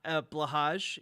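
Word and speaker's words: Blåhaj: the Haj in Blaha blahaj is pronounced more like hi uh like a softer version of yes in Japanese I know I I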